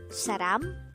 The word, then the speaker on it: 사람: Saram could be divided into two syllables. Sa is formed from the combination of the sounds of siyot and a, while ram is formed from the combination of the sounds real, a, and miyom. Saram.